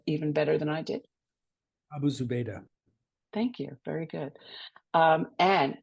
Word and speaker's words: Abu Zubaydah: Do you want to pronounce that even better than I did? Abu Zubaydah.